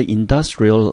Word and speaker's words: industrial: supper。那 supper 这个字呢，特别要注意到，它是两个 p 哦，它的意思叫做晚餐。如果你念成 super，就是超级的，多了一个 p，发音跟意思都不一样。所以呢，接下来呢，在这个丰盛的午餐中午餐之后呢，接着就是呢比较清淡的晚餐了。After the Industrial Revolution, however, laborers were working longer hours in factories, which made eating a big lunch not so convenient.